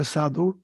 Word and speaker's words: sadhu: the cities there's this great Hindu word called sadhur a sadhu is a kind of a holy